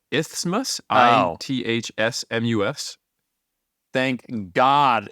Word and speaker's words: Isthmus: You said Innsmouth. Eric, how do you spell that I think area? it's Isthmus, Oh.